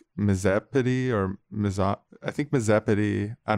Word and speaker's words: Misopedy: Yeah, I think it might be pronounced with a softer O than that, like than miso. It's like Misopedy or I think Misopedy.